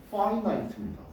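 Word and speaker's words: finite: 단어는 알지 그룹도 있었죠 앞에 in 반대말이 빼버리면 반대로 그냥 발음은 파인 나이트입니다 알았죠 발음 조심하세요 우리는 거기에 지금 초점을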